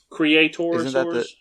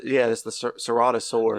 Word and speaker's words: Ceratosaurus: I think that was Creatorosaurus or something like that. Yeah, it's the Ceratosaurus. Yeah, Ceratosaurus. Okay, my bad. Yeah, I kept saying it wrong.